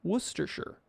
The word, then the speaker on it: Worcestershire: wolcester shaw stone has it right worcester sure worcestershire worcestershire sauce i'm clearing that up right now